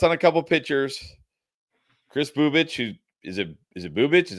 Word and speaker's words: Bubic: Well, with Bubic, which actually I did look it up, and you're right, that is how you say it. Bubic.